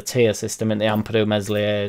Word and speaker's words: Meslier: Obviously not now, truth be told, due to the fact that there's a tier system in the Ampadu, Meslier, Silent S and Struick, but there'd be gestures every now and again where he'd be giving it or whatever.